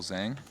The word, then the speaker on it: Zang: for the other people how do you pronounce Zang it's Michael Zang yeah Zang Zang cool just making sure y